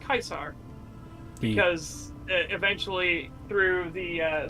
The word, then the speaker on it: Caesar: it's not actually pronounced Caesar it's pronounced kaisar because eventually through the uh through history it would uh be tweaked and modified but it's why the the leader of Germany was called the Kaiser it's literally the same